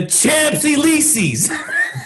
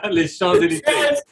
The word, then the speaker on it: Champs-Élysées: Les Champs-Élysées. I love the Champs-Élysées. Oh my God. Hey, the way it's spelled, that's the way I pronounce it. Champs-Élysées.